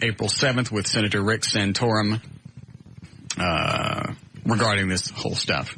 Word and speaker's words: Santorum: Is it uh Santorum? Yes. You know who I'm talking about? Yeah. All right. here's a section of the Associated Press interview taped April 7th with Senator Rick Santorum uh regarding this whole stuff.